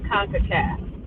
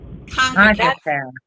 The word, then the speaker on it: CONCACAF: So Emma, the tournament that just happened for the women's national team, how do you pronounce it? Is that the federation that the United States belongs to is Concacaf. Concacaf.